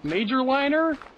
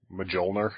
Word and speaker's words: Mjölnir: There's much more of a J in there when I say it. Mjölnir?